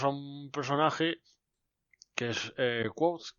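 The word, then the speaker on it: Kvothe: Tenemos a un personaje que es Quoth, que nadie sabe bien cómo se pronuncia, o Cubote, o Quote, o algo así, pero el oficial, por así decirlo, es Quoth.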